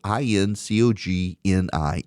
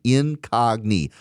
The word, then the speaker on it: Incogni: But I use Incogni and you should, too. Incogni is spelled I N C O G N I. Incogni. Like incognito. Incogni.